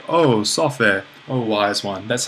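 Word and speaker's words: σοφή: So we have Sophe here. Note that the accent is falling on the same syllable.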